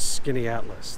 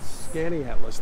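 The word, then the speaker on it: Skaneateles: dogs all right there's just no way that sells skinny atlas that's like skinatalees so i think we're gonna have to check the dictionary on this one scanning atlas not skinny atlas skinny atlas would be like an oxymoron that'd be like somebody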